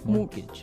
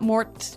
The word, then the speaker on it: mortgage: with a t yeah it has a t in it but you don't pronounce it you say mortgage morgage so not Mort mortgage not mortgage morgage